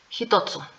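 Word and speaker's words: 一つ: más el sufijo tsu entonces este no se va a pronunciar ichi se va a pronunciar jito que de hecho este ya lo estudiamos cuando vimos el kanji pero vamos a recordar hitotsu Sí aquí tenemos la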